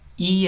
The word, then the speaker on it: e: For example, a mulher e a menina brincam.